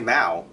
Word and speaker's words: Mao: If you say Mao, that's fine, because Mao is, the al sound is not a sound in English. A German has it closer, like Mauer. So actually Germans could pronounce my name more correctly than English speakers could.